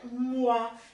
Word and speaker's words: moi: E esse moi, como é que eu pronuncio? Moi. Uai, só tem um O e um I, você fala ui, ah? Francês. Em francês, o som O mais I vai virar o A.